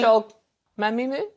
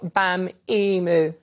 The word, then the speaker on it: Mos-Shogbamimu: Do it again and read it Shola phonetically. Mos-Shogbamimu. You just missed the beat.